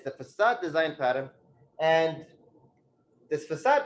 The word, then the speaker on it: facade: we have four um facade okay and and and just be sure that you pronounce it correctly it's facad not facad because facad that's a completely different problem all right and then